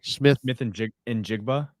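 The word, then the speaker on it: Smith-Njigba: How do you pronounce Smith's name again? Smith and Jigba.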